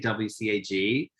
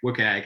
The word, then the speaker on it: WCAG: By the way, Adele, we say WCAG. I used to say WCAG. And now everyone's just like WCAG. Actually, they say, so there's a whole spread of different ways of pronouncing it.